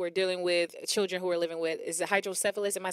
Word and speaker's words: hydrocephalus: Is it hydrocephalus? Am I saying it right? Yeah, it's hydrocephalus and cerebral palsy.